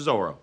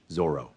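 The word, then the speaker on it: Zoreaux: be feeling anec goalie give it up to zoro oh it's pronounced um zol i'm sorry zorro this is a whole you i don't know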